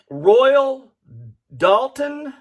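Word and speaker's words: Royal Doulton: right along we have a royal dalton is the way that i think this is pronounced if i am wrong please help me out correct me royal dalton is a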